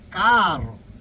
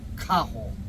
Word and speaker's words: caro: tienes que pronunciar caro. no cajo, no, carro.